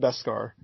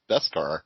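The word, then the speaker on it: Beskad: i want you to spell on the card b-e-s-k-a-d and tell me it's pronounced best scar that's dip that they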